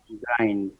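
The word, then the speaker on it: grind: পিশা বা গুড়ো করা এটার উচ্চারণটা কি গ্রিন হবে না গ্রাইন্ড হবে গ্রাইন্ড গ্রাইন্ড হবে এটা গ্রাইন্ড হবে ভাইয়া জি ভাইয়া ওই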